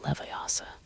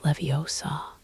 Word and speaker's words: Leviosa: proper pronunciation of Wingardium Leviosa. Despite not having had that lesson yet, "It's Leviosa, not Leviosa," Hermione insisted, demonstrating the wand movement she'd learned from their textbook.